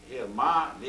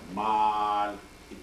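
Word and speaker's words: ما لِ: But here, ma is, ma, li hadha al-kitab, ma is one word, that is what. Li is for, another word. So it must not be pronounced like mal, it must be ma, li, because different words.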